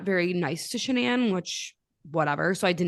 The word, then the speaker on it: Shanann: yes it is pronounced shenan I'm going to make sure I try very hard to say it that way it is not Shannon her parents apparently got